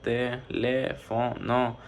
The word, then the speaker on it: teléfono: Como sabemos, teléfono tiene cuatro, teléfono tiene cuatro sílabas, por eso es polisílaba. Además, la sílaba tónica es el le, porque se pronuncia con más fuerza.